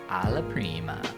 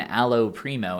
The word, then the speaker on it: alla prima: Well, it is alla prima, but when you say it, you say 1, allo primo, and 2, you say